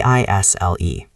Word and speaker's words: aisle: And what if I want to be near the aisle so I can walk around? Then you ask for an aisle seat. A I S L E. The S is silent. It is pronounced isle.